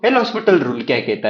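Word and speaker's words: L'Hôpital: तो ये जो एल हॉस्पिटल रूल है इसमें जो एस है वो साइलेंट वर्ड है।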